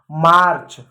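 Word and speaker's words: march: देखो प्यारे बच्चों, ए हो, आर हो और प्लस कॉन्सोनेंट हो, तो देखो ए आया, ए आ गया, आर आया, आर भी आ गया। अब सी एच क्या है, कॉन्सोनेंट है, इसलिए हमने ए को क्या पढ़ा, आ पढ़ा, तो क्या हुआ, मार्च।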